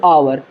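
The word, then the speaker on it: hour: यहां पर ध्यान दीजिएगा यहां पर एच को साइलेंट पढ़ते हैं एच नहीं पढ़ते हैं इसे पढ़ेंगे आवर इसके पहले अक्षर की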